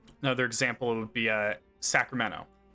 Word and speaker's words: Sacramento: Another example would be uh Sacramento. I don't pronounce the T. It's Sacramento.